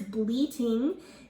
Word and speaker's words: bleating: So it kind of sounds like the word bleeding like from your body, but it means something different. This word is bleating.